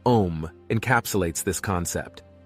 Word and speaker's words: Om: Hindu tradition the syllable om encapsulates this concept spelled Au M the letter A originates from the back of the throat and flows through the vowel U to the lips this resonating Mantra symbolizes